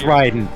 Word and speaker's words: Raiden: couple of different ways it's Ryden like there's no two ways about it anyone who says anything but Ryden is wrong yeah all respect I